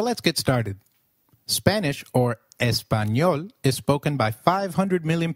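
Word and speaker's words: español: how to pronounce it the letter a is pronounced as ah as in father did you notice the letter enye in espanol this letter is peculiar to spanish it is pronounced as knee like in canyon so can you try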